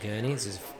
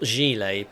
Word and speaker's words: Gurney: treble for four minutes so not gilet by the way which is how it was being pronounced by uh the announcer earlier to get an off